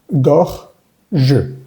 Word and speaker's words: gorge: Gorge. Gorge. Y esa E sin acento al final, pues no va a sonar. Por eso la pronunciación, digamos que se detiene justo antes.